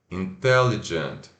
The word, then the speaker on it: intelligent: Se pronuncia I curto N, in. Apóstrofo indicando sílaba tônica. Tell, ó, o E, tell. I curto I. Intel E. intelli. E esse som, né, o D e o j, jant, intelligent. Intelligent.